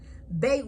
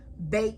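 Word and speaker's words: בית: Bet with a dot makes the sound of a B, as in boy. Bet without the dot, it makes the sound as V.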